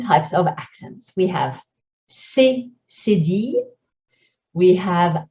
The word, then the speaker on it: cédille: We have cédille, we have accent aigu, accent grave, accent circonflexe, and we have tréma. When you see these, when you want to spell them, here's what you'll say. C, cédille.